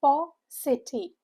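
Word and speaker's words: paucity: The stress is on the first part. And how is it pronounced? It's P city.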